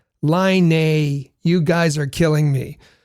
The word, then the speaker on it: Laine: So you've heard us say Patrick Laine a number of times. And Jim says, hey, it's pronounced Laine.